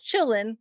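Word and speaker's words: Qilin: this creature called the chillin which the way it's spelled you would not think that's how it's pronounced because it starts with the q but you call it chillin it's kind of like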